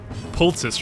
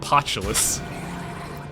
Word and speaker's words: poultice: Yeah, Ennui is one, but I recently learned that I've been pronouncing poultice wrong. I used to call it potulus.